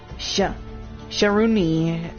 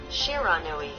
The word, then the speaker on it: Shiranui: And of course, this has to do with the Sharuni, if I recall. Is that how you pronounce it correctly?